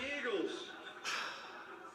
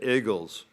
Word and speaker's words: Eagles: I should have said Eagles. Iggles. That's the official Philadelphia pronunciation.